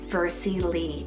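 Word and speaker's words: Versie Lee: s i e and then l e e vercy Le and it means turning a new Leaf so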